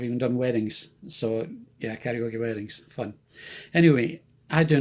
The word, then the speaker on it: Karaoki: I use pcdj Karaoke. It's karaoke but spelled with an I at the end.